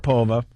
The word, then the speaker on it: Sharapova: sharo how do you say her name sharov Sharapova Sharapova Shar Sharapova in the city have to